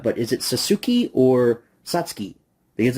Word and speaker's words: Satsuki: mention this later or not but is it sasuki or satki because it's spelled Satsuki satki they pronounce it satki in the movie so I'm going to say